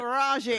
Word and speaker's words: Taraji: I've never known how to say her name till today, but Taraji.